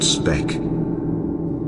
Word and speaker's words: Sebek: His name Sebek is the crocodile, originally pronounced Spek.